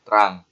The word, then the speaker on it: trunk: apa itu yang namanya terang atau dalam tulisannya kayak gini ya, Teman-teman. Tunggu kita sini tulisannya kayak gini, trung. Namun dibacanya terang ya, Teman-teman.